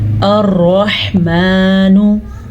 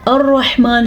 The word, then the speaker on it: الرحمن: الرحمن علم القرآن۔ الرحمن، سب سے پہلے را کو پر پڑھنا ہے کیونکہ را کے اوپر زبر ہے۔ ہا کے تلفظ پہ آپ نے دھیان دیا کہ کتنا کلیئرلی اس کو میں نے پڑھا، اسی طرح آپ نے بھی پڑھنا ہے۔ ہا کو ہا پڑھنا